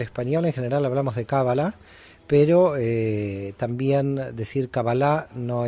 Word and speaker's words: cábala: cábala con el acento en la primera vocal cábala o cábala a ver el término